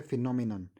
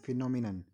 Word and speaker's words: phenomenon: सो इसको हम normally फिनोमिना पढ़ते हैं। सो बच्चों को नॉर्मली इसकी स्पेलिंग भी फिनोमिना ही याद होती है, उनको यहाँ पे PHENOMENA करके याद करते हैं इसको, लेकिन आपको ऐसा बिल्कुल भी नहीं करना है। इसकी स्पेलिंग है PHENOMENON, फिनोमिनन।